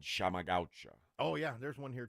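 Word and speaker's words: Chama Gaúcha: Oh, and then when the owner came in, he told me that I was pronouncing it wrong. It's Chamagaucha. Chamagaucha. Yeah, and I was like, not Chamagaucha. Like, I just naturally said it that way. He goes, no. Shama.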